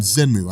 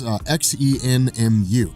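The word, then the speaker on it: Xemnu: stories involving a guy named zenu I think is how you pronounce it it's xen muu and this guy was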